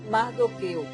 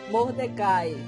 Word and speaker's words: Mordecai: O que sabemos sobre a infância de Esté e por que ela teve de ir morar com seu primo Mardoqueu ou Mordecai? Qualquer uma dessas pronúncias estão certas.